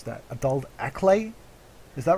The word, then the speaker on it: Acklay: Oh, I can't pronounce that. Adult Acklay. Is that right? Acklay, yep.